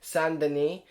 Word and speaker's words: Saint Denis: wanted to talk about him today he is son Denis as he's called in France which is where